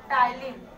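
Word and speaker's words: ptyalin: टाइलिन। यहाँ पे P silent होता है।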